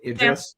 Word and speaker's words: Idris: And I might not pronounce it correctly. Is it Damson Idris? Damson Idris.